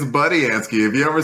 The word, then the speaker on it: Budiansky: Yeah, and corrected us on how to pronounce his name. Budiansky. It's Budiansky. If you ever said Budiansky like I just did, you're wrong, and you should flog yourself for being incorrect.